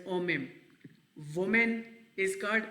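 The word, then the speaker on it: homem: ठीक है, मैन को ओमेम कहते हैं, एच जो है साइलेंट होता है, इट प्रोनाउंस एज ओमेम।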